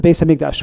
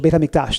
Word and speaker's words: Beit HaMikdash: We're going to outline a few different aspects in halacha about looking towards, yearning, thinking about the Beis HaMikdash or Beit HaMikdash, depending on your pronunciation.